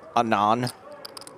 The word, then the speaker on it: Anton: The T is silent in his name too. $450,000, the continuation bet from Anon.